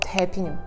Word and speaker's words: 때비누: In Korea, it is called taepinu, or how is it pronounced?